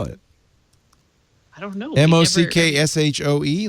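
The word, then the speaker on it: maque choux: it i don't know m-o-c-k-s-h-o-e like mock shoe oh no it's it is m-a-q-u-e-c-h it's shoe i know what shoe is yeah shoe is like roux yeah yeah it's look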